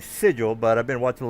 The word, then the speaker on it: Sigil: bit later but anyway everybody's pronounce pronouncing it sigle instead of sigil so the uh the